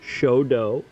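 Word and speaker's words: 書道: So it's a hard O on both cases. Shodo.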